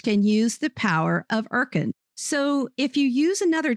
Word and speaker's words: Urkund: Today's sponsor is Irkand.